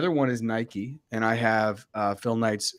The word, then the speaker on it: Nike: So I thought Nike was really cool. It's also two syllables, Nike, and in Latin America.